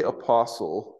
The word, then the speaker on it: apostle: so we just say apostle instead of apostolos. And when you say apostle, you don't pronounce the T, do you?